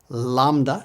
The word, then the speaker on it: lambda: Kaa C Kaa C lamba it's just like our L Lambda say it with me Lambda L Lambda L me me it